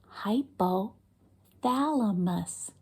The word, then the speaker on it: hypothalamus: parts of that word let's Clap the syllables in hypothalamus let's do it again hypothalamus let's do it faster hypothalamus do it again hypothalamus one more time hypothalamus that was five whole syllables hypothalamus wow big word